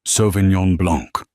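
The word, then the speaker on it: Sauvignon Blanc: It is pronounced Sovenignyon Blanc.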